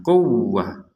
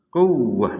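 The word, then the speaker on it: قُوَّة: Nah, di sini ada waw bertasydid, kita membacanya dengan tekanan quwwah. Kuwah. Jadi wawunya ditekan, jangan sekedar kuwah. Kuwah itu enggak ada, kalau bahasa Indonesia memang enggak ada tekanan.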